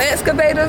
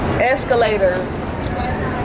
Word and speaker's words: escalator: Escalators. I ain't going to another stair. Another excavator. What is it? You do? Pronounce it. Escalator. It's not a D in it.